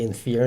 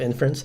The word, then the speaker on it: inference: called type inference and I used to pronounce it wrong for many years so it might still slip out so I might say in fear instead of inference but anyway I always mean inference most languages actually don't